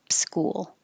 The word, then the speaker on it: school: Prep school. Prep school. Almost two syllables for school because you have to round your lips and then unround them.